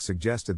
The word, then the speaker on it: suggest: is in this case the accent is in the second syllable corresponding to jest Sue low are other